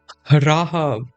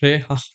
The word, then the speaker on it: Rahab: have uh reab no it's not re Rahab it's Rahab not RAB Rahab oh my God